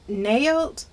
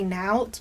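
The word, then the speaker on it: Naot: Here's another comfort shoe brand similar to Towels, but this one is called Nailed. I think I'm saying it correctly. I used to say nout, but it's nailed.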